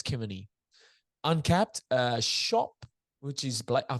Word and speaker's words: Kemeny: So Josh I think it's Kemeny, I think is how you say it.